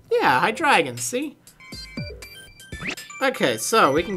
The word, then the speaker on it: Hydreigon: Let's see how that one's pronounced, actually. Hydreigon. Yeah, Hydreigon, see?